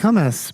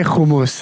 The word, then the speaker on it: hummus: name for that matter but they're like hummus but yeah it's hard I say homeless and everyone's like oh